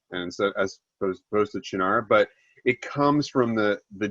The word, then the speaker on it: Cynar: And you can say, like, the Italians will say Cynar, and so as opposed to Cynar, but it comes from the genus species of artichoke, which is Cynar cardunculus. It's not Cynar.